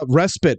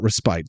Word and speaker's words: respite: um the question uh respit by the way not respite thank you look it's